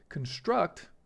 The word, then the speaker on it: construct: Construct, not construct. Notice how the stress is on the O.